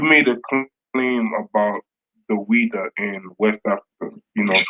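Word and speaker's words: Ouidah: I think it's XWEIDA, and I think it's pronounced Ouida.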